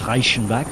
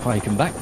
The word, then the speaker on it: Reichenbach: With Reichenbach now, man from French-speaking Switzerland, despite the Germanic surname. Hence his pronunciation of it as Reichenbach and not Reichenbach.